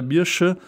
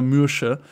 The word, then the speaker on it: Mercia: Aber ja, also entweder Mirsche oder Mürsche wird wahrscheinlich Mercia ausgesprochen worden sein in der zeitgenössischen, ja, in der damaligen Zeit.